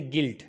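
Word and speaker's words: guilt: जाएगा इसी तरीके से गिल्ट गिल्ट के अंदर यू के बाद आई वावेल्स में से है तो यू साइलेंट हो जाएगा इसी तरीके से गिटार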